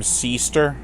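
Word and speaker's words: Syster: by jeremy boado and kim seester i mean it's spelled s-y-s-t-e-r what do you want me to do call her sister they're the married couple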